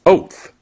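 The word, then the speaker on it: אות: And in the Hebrew it means or the in Hebrew the word is pronounced oath.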